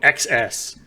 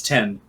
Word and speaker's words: X: one isn't it no it's not x it's 10 the x is pronounced 10 for the iphones that makes it even